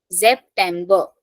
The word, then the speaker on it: September: Then der September, starting from S pronunciation Z. September.